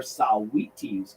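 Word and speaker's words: Saweetie: taking us to the top of the hour saw wheaties closer that's how you pronounce it and american heartbeat by survivor right here on wmo moot92 i'll see you at trivia time 4 15.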